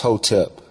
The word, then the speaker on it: hotep: under the crooked american system too long hotep pronounced hotep a word from the language of ancient egypt